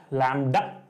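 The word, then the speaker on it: lambda: एल एम बीडी ए लडा B silent है लडा कोई इसको लडा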